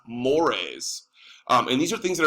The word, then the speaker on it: mores: on the other hand it's not called more it's pronounced mores and these are things